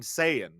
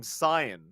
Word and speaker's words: Saiyan: Well, I have a pretty clear argument because I just checked the Google pronunciation of Super Saiyan, and it's Super Saiyajin. So it is Saya, Right. Saya, and it's Okay. not Saiyan.